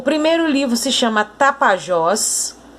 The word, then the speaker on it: Tapajós: Então, em Tapajós, por exemplo, a sílaba mais forte é o Jós. Por quê? Porque é ela que tem o acento.